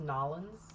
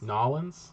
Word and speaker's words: New Orleans: orleans it's actually pronounced nollens nollens yeah that's how they say it down there new orleans nolan's politics